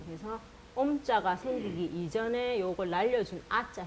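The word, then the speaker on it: ཨོཾ: 미음 받침이 요거 변화한 형태인데 미음이 합쳐져서 아자랑 오자가 만날 때 이게 탈락이 되거든요. 그래서 옴 하고 된 겁니다. 그래서 옴자가 생기기 이전에 요걸 날려준 아자 형태라고 외우시면 됩니다.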